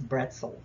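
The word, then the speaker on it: Brezel: originated in Germany and the pronunciation it's bretzel um this p b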